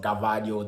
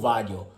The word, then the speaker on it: Gvardiol: Croatian International yoshiko value yes that's how it's pronounced I know it's about gabadio the latest and quite what they seem to be but it's yoshiko vadio so the 21 Croatian